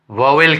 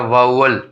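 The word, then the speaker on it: vowel: वाउल जिसको हम वावेल कहते हैं, लेकिन इसका सही प्रोनाउंसिएशन होता है वाउल।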